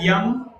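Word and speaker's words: यम: So you call them Yama, Niyama. The correct pronunciation is Yam, Niyam.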